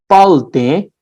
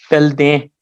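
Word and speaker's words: དཔལ་ལྡན: Some people will pronounce it as palde. Some people will you will hear two pronunciation for this, palde and pelde, both of which are correct.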